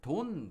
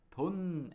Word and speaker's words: 돈: So 도, 도, they have same consonant and the vowel, but the last consonant, 받침, is different. The first one is 니은 받침, 돈은상, 돈.